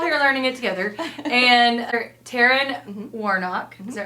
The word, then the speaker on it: Taran: Taran. Taran. It looks like Tyrion the way it's spelled and you can thank your parents for that.